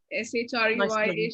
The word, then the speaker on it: Shreya: SHREYA, Shreya. That's how you pronounce it.